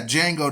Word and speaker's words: Django: Yeah, Django, the D is silent.